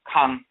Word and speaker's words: Kan: And we say, of course, note that the A in the term Ka, to speak, to pray, is nasalized, so it is therefore Kan, is just spelled with an indicator over the A to denote the nasalization, as we said, or simply spelled K-A-N, Kan.